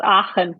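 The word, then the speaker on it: Aachen: I'm sure you know how to pronounce it. Aen. Yes, it's Aen.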